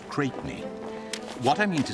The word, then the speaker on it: Crespigny: Julius Champion Cresby pronounced Cratey.